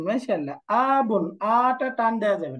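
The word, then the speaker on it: أَبٌ: বলেন তো বাবা আরবি কে ফাদার আরবি কে আবন আবুন মাশাল্লাহ আবন আটা টান দেয়া যাবে না আবুন উচ্চারণ কি হবে আবুন এরপরে বলেন তো যদি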